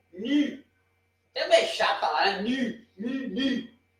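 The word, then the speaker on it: νι: Temos mi, não nu, ni.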